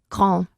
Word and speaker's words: grand: Perdona, la D no se pronunciaba. No se pronunciará de. Espera, l'homme est grand. L'homme est grand.